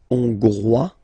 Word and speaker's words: hongrois: Hongrois, Grois, Hongroise. Okay, so here final S not pronounced for the masculine form, and then you pronounce it here for the feminine form.